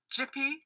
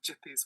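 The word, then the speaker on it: Gipi: this is a Creator called jippy I think that's how you pronounce it so it's g-i-p-i it's an Italian cartoonist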